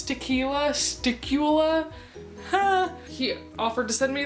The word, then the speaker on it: stiqula: I know it's spelled like it rhymes with tequila. Yeah, I'm just gonna go for it. It's tequila, sticula.